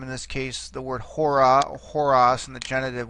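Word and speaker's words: ὥρα: You see here that it's accentuated, forget the breathing mark for a second, it's accentuated on the first syllable, the omega, hora.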